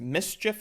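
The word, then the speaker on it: MSCHF: out a lawsuit against mischief i think is how you pronounce it and they are basically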